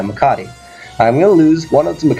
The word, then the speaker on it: Macadii: I'm going to pronounce his name correctly. Is it Macadii? Yeah, Macadii.